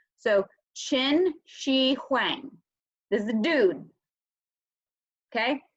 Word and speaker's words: Qin Shi Huang: how to pronounce this the qan that's the in China that's the chin sound so Qin Shi Huang this is a dude